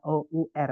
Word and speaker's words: hour: ya jadi tulisannya h o u r awalnya H tapi karena enggak dibaca h-nya bunyinya adalah sor Bacanya adalah our diawali huruf a bacanya